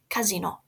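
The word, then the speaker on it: casinò: casino is a casino casino with an accent on the o casino but Casino in Italian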